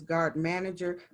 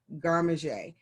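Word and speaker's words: garde manger: position is the chef garmaje i know it looks like it says guard manager but it is pronounced garmaje because it's french and it is the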